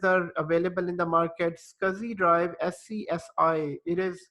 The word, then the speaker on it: SCSI: available in the market scuzzy Drive SCSI it is pronounced as scuzi SCSI pronounced as scuzzy and then SAS drives